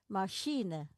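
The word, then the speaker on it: machine: Masine sh ma mashine terdengar seperti huruf sh tetapi tulisannya seha masine ships, shina and chef.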